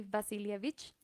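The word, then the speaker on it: Васильевич: Para empezar, su nombre se escribe Wasily Wasilievich Kandinsky, pero pues se pronuncia Vasily Vasilievich, porque pues él nació nada más y nada menos que en Rusia.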